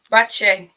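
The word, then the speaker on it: Batlle: How do you pronounce her surname then? Bache. Not Battle or Badger.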